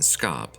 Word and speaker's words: scop: The game is Pet Scop a port manto on the words Pet and Scop. Scop, pronounced shop, is an old English word for a poet.